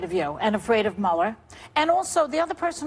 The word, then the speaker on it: Mueller: Mueller, Mueller, or Miller? Mueller.